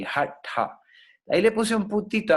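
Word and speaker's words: हठ: Esa T con punto abajo es lo que se llama retrofleja. La lengua se retrae. Hatha.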